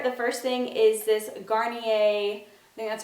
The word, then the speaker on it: Garnier: into skin care the first thing is this Garnier that's how you say it micellar water I